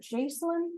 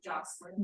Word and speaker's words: Jocelyn: And is it Jocelyn or Jacelyn? Jocelyn. Jocelyn.